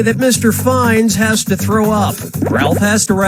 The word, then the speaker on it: Fiennes: But I'm never certain if I'm pronouncing his name correctly. What's the proper way to say that Mr. Fines has to throw up?